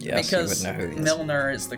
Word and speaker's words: Milner: player i don't know why he said yes milner is the correct pronunciation but they have very similar names which